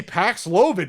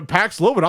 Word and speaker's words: Paxlovid: But the marketing department that was probably doing high fives when they said, hey, Paxlovid, it rhymes with COVID.